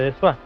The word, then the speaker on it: Dessoir: Dessoir es un apellido francés que se escribe Dessoir, se pronuncia Dessoir.